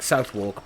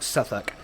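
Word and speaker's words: Southwark: been pronouncing it like south walk but it was actually more like suffolk yeah suffolk no just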